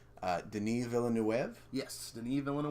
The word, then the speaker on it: Denis Villeneuve: made pretty recently 2016 and I'm going to pronounce this french-canadian director's name Denis Villeneuve yes didn't even want to wave one of